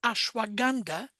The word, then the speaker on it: ashwagandha: But there is a herb called ashwagandha. Mhm. It's spelled kind of funny, but it's pronounced that way, that I find very useful.